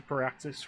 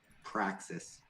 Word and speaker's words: Praxis: Yeah, you're pronouncing it wrong, but yeah, I know what it is. Yeah, I'm pronouncing it wrong. How's the pronunciation? Praxis.